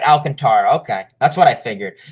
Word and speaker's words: Alcantara: been pretty nice alcantara okay so i was pronouncing it right alcantara okay that's what i figured i don't know